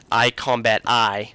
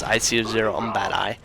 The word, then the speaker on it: iC0mbati: But if you guys have never checked out Combat's videos, I'm gonna say his name correctly. iCombat-I. You guys get mad when he says IC0MBAD-I.